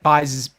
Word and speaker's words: Buys: JP Buys is making his debut. Buys. It's a last name. It's very it is Bays. It is the way you pronounce it. It is Bays.